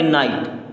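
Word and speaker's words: knight: हमें पढ़ना है तो n आई टी बचा अब इसे क्या पढ़ेंगे नाइट क्या पढ़ेंगे नाइट डब्लू आर ई ए टी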